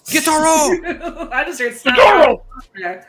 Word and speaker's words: Gyutaro: pronounce this name with your Japanese. You have to say it like that. Guitaro.